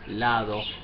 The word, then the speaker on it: lado: the like and southern so if you concentrate and say lado so you will not risk pronouncing like ladder on door photo by